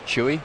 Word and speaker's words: CHUI: Pronounce the name of your company. It's Chewy. Chewy.